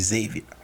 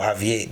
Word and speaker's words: Xavier: It's supposed to be Xavier. And it or Javier.